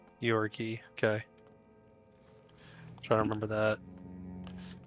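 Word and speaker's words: Georgiy: So, I know from watching other videos on this game that it's uh his name is actually pronounced Gueorgi. Apparently, that's how that is said in Russian. Gorgi.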